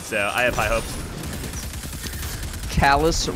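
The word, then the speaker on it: Calus: I have high hopes Calais rhymes with chalice oh that's why he'll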